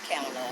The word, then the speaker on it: Kamala: If you have a difficult time pronouncing Kamala, just if you got a friend named Pamela, just say Pamela, then Kamala, and then you're going to be all right.